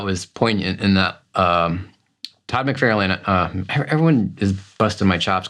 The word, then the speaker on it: McFarlane: tangent, but that was poignant in that Todd McFarlane, everyone is busting my chops because I say McFarlane, and they're like, who? McFarlane, who cares? That's how he pronounces it. Does he say McFarlane or McFarlane?